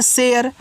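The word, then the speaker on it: share: तो इसको पढ़ते हैं शेयर। क्योंकि एस एच से आपका बड़ा सा हो जाएगा।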